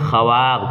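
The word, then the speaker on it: خواب: है साइलेंट है वैसे यहां पर वाव को लिखा जाता है मगर पढ़ा नहीं जाता है जैसे बोलते हैं लिखते हैं खवाब क्या लिखते हैं खवाब और पढ़ते हैं ख्वाहिश पढ़ते हैं खवाब लिखते हैं खवाहिश और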